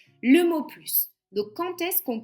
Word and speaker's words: plus: Donc le chat n'a plus la force de jouer, le chien non plus. D'accord ? Nous avons deux phrases négatives. Donc on ne prononce pas le s jamais. Et ensuite lorsque plus a